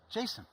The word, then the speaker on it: JSON: Like Jason, like Jason the name. Jason the So name. I met with Douglas Crawford one time, and the first question I had to ask him, of course, was, course. "How do you pronounce it?" And he looked at me very deadpan. He's like, "Jason."